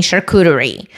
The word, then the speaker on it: charcuterie: And he was saying, like, you should underline the charcuterie, like the U, that American pronunciation is different.